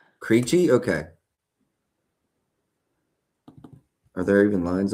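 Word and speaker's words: Krejčí: Kachchi. Creeche. Creeche.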